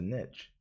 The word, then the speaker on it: niche: show up for those really dedicated in the niche or niche depending how you say it I understand there